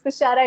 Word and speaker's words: Thushara: the radio is like they call me Tushara with double sha. So I stress on my sha a bit so that Like that's how like Tushara.